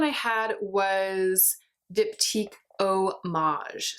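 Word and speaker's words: Eau Mage: had was dipped eek Oh Maj so it's spelled EA u as in Eau de Parfum and Maj Maj e as in mage like another word for magician Oh Maj so it's like the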